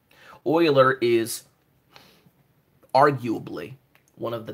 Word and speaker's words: Euler: right here this is oil er it's not perhaps you'll learn its oiler that's how you pronounce it oiler is arguably one of